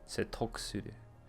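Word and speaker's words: 説得する: You don't really pronounce the ku, it's more of a k. Setokusuru.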